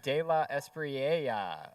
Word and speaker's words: De La Esprella: Yep, so let me say it correctly because he's about to win a gold medal here. It's Mr. De La Esprella of Sora, who's going